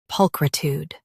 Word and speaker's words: pulchritude: pulchritude pulchritude US ends with tude. UK ends with chude. Don't say tude in UK.